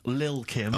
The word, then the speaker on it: Lil Kim: Now, Steve, I see there it's a track by Little Kim, but how are you pronouncing it? I'm pronouncing that correctly, Lil Kim. Oh, no T's involved.